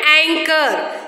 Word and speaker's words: anchor: Ache and anchor. Ache, it is not H. Okay, it is ache. Here H is silent after the letter C. And here anchor, H is silent after the letter C.